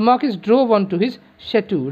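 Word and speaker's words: château: is drove onto his shattu remember c h a t a u that pronounced uh shattu this is the big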